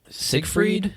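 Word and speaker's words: Seigfried: very happy man um how do you say this next track is it Sig freed yeah okay for the longest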